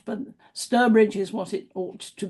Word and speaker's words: Stourbridge: Um, that's because it's supposed to be pronounced Sturbridge, I'm told, by the people who live around there, so you can contradict me or not, but Sturbridge is what it ought to be.